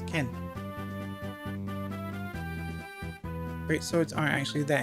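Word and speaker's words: 剣: But they still pronounce, for Binding Blade, they pronounce it as Tsurugi. While for Blazing Blade, they pronounce it as Ken.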